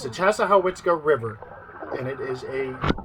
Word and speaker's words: Chassahowitzka: Chassahowitzka. Okay, so it's very hard to pronounce, and this is almost in central northern Florida. The locals just call it the Chaz. Okay? But it's the Chassahowitzka River, and it is a wonderful, amazing place.